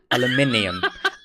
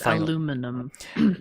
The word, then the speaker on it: aluminium: the fact that I don't care what you Americans say. As I told you in the last episode, aluminium. Aluminium. I think he means aluminum.